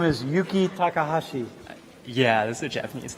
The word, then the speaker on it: Yuki Takahashi: Yuki Takahashi.